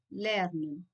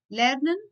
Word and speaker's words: lerne: So guys, E at the end should be pronounced as a in German. Yeah? So lerne and not lernen.